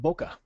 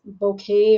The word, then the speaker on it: bokeh: but that's okay it's it's actually Boke um it's a a Japanese word which means out of